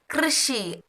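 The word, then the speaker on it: कृषि: இது பார்த்தீங்கன்னா கிருஷி யூ போடாமல் KRSHI கிருஷி கிருஷி கிர சவுண்ட் வரணும்.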